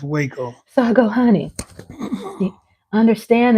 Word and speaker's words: Waco: I first met hubby I think he said Wacko and I go I didn't say I called it wacko but it's pronounced Waco so I go honey understand that a lot